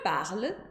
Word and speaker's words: parle: Je parle vai ser com a letra E no final, e ela não é pronunciada.